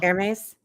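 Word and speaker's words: Hermès: It was no, it's a name with a funny pronunciation. Huh? Hermes. Yeah. That sounds, Hermes. Good job, Carrie Berry's mom.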